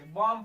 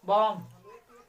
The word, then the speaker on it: bomb: जैसे BOMB, जिसे हम बॉम्ब नहीं पढ़ेंगे, बॉम्ब पढ़ेंगे, बी साइलेंट हो जाएगा, बॉम्ब पढ़ेंगे, क्या पढ़ेंगे, बॉम्ब।